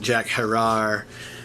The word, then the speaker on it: Jack Herer: I mean, a lot of people know about the name Jack Herer. Some people pronounce it Jack Herer, but you know, he